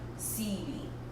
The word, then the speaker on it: Sebi: Sebi, pronounce the E.